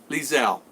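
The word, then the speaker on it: Liezl: Lizel.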